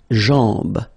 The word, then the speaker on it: jambe: Le genou, la jambe, okay, remember, A-M, when you combine these two, basically it's just like A-N, so it's nasal and it's en, okay, so you get la jambe, la cheville, remember, double L like that, after I, y, y, cheville.